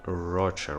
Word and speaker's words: Rocha: mother grew remarried Shannon Rocha right so her difficulty because we have mentioned her later on in this show so this is her mother of Shannon Rocha it's pronounced Rafa so yeah she you